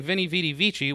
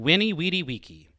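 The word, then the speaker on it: veni, vidi, vici: sounds way cooler than winnie weedy wiki which is the technical latin way of saying it but you know just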